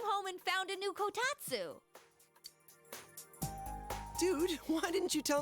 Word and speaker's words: kotatsu: The best compliment to a kotatsu would be a heated rug. What the hell's a kotatsu? Hey Siri. What is a kotatsu? No, not katsu. I might have said it wrong.